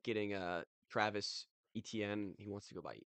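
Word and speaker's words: Etienne: I like getting uh Travis ETN. He wants to go by Echan.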